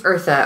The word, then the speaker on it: Eartha Kitt: Eartha Kitt. It is Eartha.